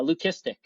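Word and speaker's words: leucistic: And, yeah, learn lesson learned, you know, of the whole uh, lucistic, right, being the appropriate pronunciation, you know, for that.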